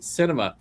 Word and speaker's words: Sinema: The ex-wife suit said Sinema, it's pronounced Sinema.